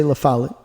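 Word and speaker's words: Lafayette: Lafallet, Tennessee, which I think should be pronounced Lafale. It just begs to be pronounced that way, but they say Lafallet, and that's okay.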